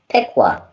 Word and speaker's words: Piqua: I am from a town called Piqua, and that is spelled Piqua.